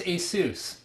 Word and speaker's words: Asus: how do you pronounce Asus all right so Asus yeah ASUS ASUS as long as it's Seuss Seuss like Dr Seuss not like sus or not like Pegasus so a lot of